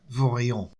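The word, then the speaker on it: Vorilhon: ¿Cómo lo pronunciarías? Yo diría Bourguignon.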